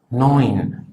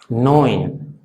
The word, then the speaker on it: neun: Luego el diptongo EU, que suena OE, OE, como por ejemplo en la palabra neun, neun, que es el número 9.